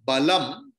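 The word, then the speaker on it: बलं: So before that, if Anushwara is there, Anuswara's pronunciation will be as the last letter of that varga. So that is why I am chanting balam, because ba is there.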